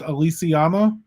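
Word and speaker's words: Aliceanna: So, it is on Alice Anna Street in Fels Point. Aliciana. Yeah. Alis, that's that's pronounced Aliciana.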